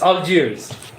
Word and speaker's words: Algiers: It's Algiers.